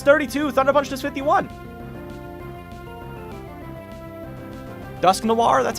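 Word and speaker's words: Dusknoir: Dusk Noir, that's how you say it.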